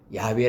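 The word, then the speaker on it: 야웨: 아 여호와 라고 말하죠 이것을 네 글자를 합하면 은 야외에 라고 말합니다 야외 라고 발음합니다 내 her 배선은 어 하나님의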